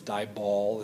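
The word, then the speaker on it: DIBAL: I booked because it's dye ball is typically how it's pronounced or written out dye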